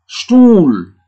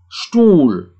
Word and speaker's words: Stuhl: Kemudian ada H. Biasanya juga H ini tidak dibaca, ya. Hanya untuk memanjangkan vokal yang ada di depannya, ya. H, ya. H. Seperti ini. Stuhl. Jadi U-nya panjang. Stuhl.